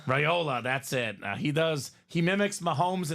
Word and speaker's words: Raiola: His name always escapes me the pronunciation. Dylan Raiola. Raiola, that's it.